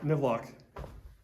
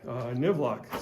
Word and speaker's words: NIVLOC: But this particular mining district, this mining site, Colvin, I'm sorry, not Colvin, NIVLOC. Okay, well I just kind of gave it away. NIVLOC, so what we were talking about that a second ago. Like I said, it's spelled N-I-V-L-O-C. Well, if we reverse that, it's Colvin, C-O-L-V-I-N. And that Colvin was the last name of the guy who basically founded this